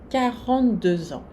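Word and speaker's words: quarante-deux ans: E aqui eu marquei a liaison entre 2 e 1, esse X aqui vai ter um som Z. 42 ans.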